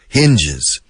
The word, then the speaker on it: hinge: The door hinges. Hinge. Binge, hinge. H-I-N-G-E. Inge, con H.